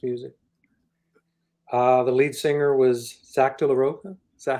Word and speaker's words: Zach De La Rocha: The lead singer was Zach De La Rocha.